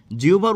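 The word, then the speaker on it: জিহ্বা: জিউভা থেকে সংস্কৃত জিউভা জিউভার উচ্চারণটা কিন্তু এরকম জিউভা সংস্কৃত এটা হচ্ছে উচ্চারণ তো সংস্কৃত জিউভা থেকে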